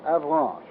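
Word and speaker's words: Avranches: peninsula is 75 M across between K and Avan I'll spell that again for those of you who have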